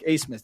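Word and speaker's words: Abmas: Asmus, and by the way, it took me 3 weeks to pronounce his name. Max Asmus, A-B-M-A-S is like Asmus. That's the way he pronounces it.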